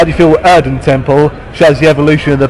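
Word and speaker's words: Erdentempel: How do you feel I'm going to apologize if I pronounce this wrong. How do you feel Erden Temple shows the evolution of the band compared to the sound you had back on Tourist Frontier?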